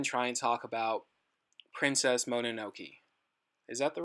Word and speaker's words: Mononoke: we might even try and talk about Princess Mononoke. Is that the right title? Yes. Princess Monokono? Yeah, sure. Monokono. God, I think I said it right the first time. Yeah, you did. Princess Mononoke.